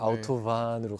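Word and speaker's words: Autobahn: 반으로 하지 막 이렇게 왜 V 발음으로 하지? 라고 생각하실 수 있어요. 아우토반은 이제 독일에 있는 도로다 네, 보니까 독어다 보니까 네. 아우토반으로 간다고 합니다.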